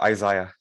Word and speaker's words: Isaiah: बोलेंगे तो मैं बोल पाऊंगा, क्योंकि नाम का प्रोनाउंस शायद मैं प्रॉपर नहीं बोल पा रहा हूँ। Okay, sir. My name is Isaiah.